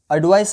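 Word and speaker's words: advice: रहा है और इसके पीछे का जो साउंड है वो ज आ रहा है क्या आ रहा है ज एग्जांपल देखें एडवाइस और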